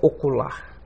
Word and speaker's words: ocular: vocábulos oxítonos ou Agudos com acento na última sílaba por exemplo a palavra ocular sim vocábulos paroxítonos ou